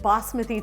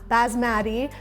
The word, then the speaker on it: basmati: so speaking of rice we are working with bosmothy today repeat after me boss with e not basmati although if you do pronounce it that way that's okay but you